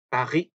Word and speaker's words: Paris: 그래서 파리라고 하니까 사람들이 빠히도 아니고 빠리도 아니고 그렇게 중간쯤이 들린다고 말씀들을 하세요. 그래서 이것도 Paris 혹은 파리, 파르, 파리 요렇게 읽습니다. 파리, France, 파리 요렇게. 그렇게 R 발음을 R 발음이죠.